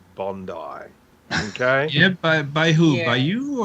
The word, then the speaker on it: Bondi: as i've said before it is based on an aboriginal word which is pronounced bundy in australia in australia that's just